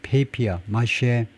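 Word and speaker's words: papier-mâché: 어제 일하고 있냐 페이퍼 페이피어 마셔스처 페이피어 마셔 이거 원래는 이제 빠삐에라는 말이죠 근데 영어 발음 이제 페이피아 마쉐에 이거요 그래서 혼 혼지라고 그러네요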